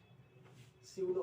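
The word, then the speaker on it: pseudo: स्यूडो force क्या होता है, स्यूडो फोर्स, यहाँ पी साइलेंट है।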